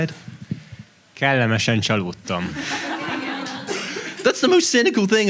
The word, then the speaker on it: Kellemesen csalódtam: Kellemesen csalódtam.